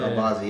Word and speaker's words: Albazi: Albazi, is that how you pronounce it? Albazi, yeah.